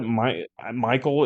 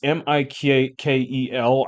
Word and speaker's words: Mikel: Michael. It's Mikel.